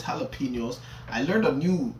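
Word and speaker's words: jalapeños: come on her clavicle I know it's not pronounced J apos but again that's a bar you get me I know it's jalapenos I learned a new pronunciation yellow yellow penel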